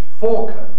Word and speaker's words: falcon: rather more complicated here the traditional form is actually falcon like talk and chalk with no l my own pronunciation falcon